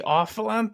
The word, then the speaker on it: Olyphant: Timothy Olyphant? Is that how you pronounce his Oliphant, name?